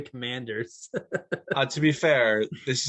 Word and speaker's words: Commanders: 13 letters you said you said the washington commandeers they're the commanders uh to be fair